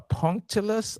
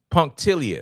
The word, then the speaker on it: punctilious: Uh punctilus. I don't know how to pronounce that word. Excuse me. Punk. Punctilus. Punctilious. Punctilus. Punctilious. Okay. Punctilious.